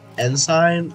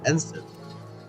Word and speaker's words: ensign: If you look at my chat bubble, that is not pronounced ensign or ensign or however you guys say it. It's actually ensign. Very, very boring, but that is the correct pronunciation for the word.